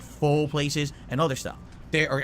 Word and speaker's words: pho: There's a lot of Vietnamese food, like pho places and other stuff. Or actually, it's pho, right? It's pronounced it pho places and stuff like that.